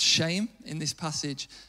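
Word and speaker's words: shem: in the Bible and the word for name which is pronounced shame In this passage it's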